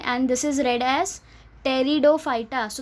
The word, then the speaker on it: Pteridophyta: Okay, and this is read as Pteridophyta. So the P here again is silent, so you should read it as टेरिडोफाइटा.